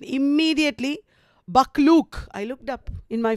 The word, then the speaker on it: Buccleuch: Scott was reduced from impending bankruptcy by his patron, the Duke of Buccleuch. I don't know how to pronounce it.